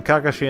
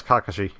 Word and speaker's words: Kakashi: Well, okay, they pronounce it Kakashi. I'm pretty sure it's probably Kakashi in Japanese, but I'll just try to stick with the English pronunciation just to not cause any confusion.